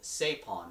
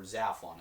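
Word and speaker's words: Zaphon: a particular mountain called sapon or or zapon it can be pronounced either way but God explains to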